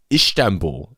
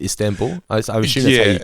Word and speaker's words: Istanbul: got the recipe from she says ishtamba instead of istanbul correctly pronounce it yeah i might have